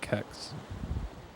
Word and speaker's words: Kex: It's spelled K-E-X, but I guess it does. I can go for several kind of more. What sound like Kex. That is Kex.